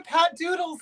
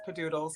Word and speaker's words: Padoodles: You're like a Pat Doodles now. What? You're like a Pat Doodles. So I always say it wrong too. It's Padoodles, but Padoodles. I know, because I didn't